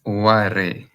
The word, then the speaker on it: Oware: It's Oware. Well, okay. Yeah, Oware. You just have to pronounce it as it is.